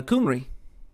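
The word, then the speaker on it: Cymru: for uh whales uh is pronounced uh kumri. So like the y is a u sound and the u is a y sound.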